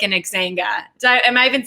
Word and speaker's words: Xanga: Because to me, it felt like an Xanga. Am I even saying that right? Xanga? Yes, Xanga is what it was. Right, because that's how you pronounce things.